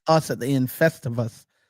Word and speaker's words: Festivus: Festivus. All right. It's almost like festival, but you say us at the end. Festivus.